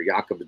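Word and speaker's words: Jakob: um it's horrible man cjd Crutchfield Jacob disease or yakob disease however you want to pronounce it but cjd is a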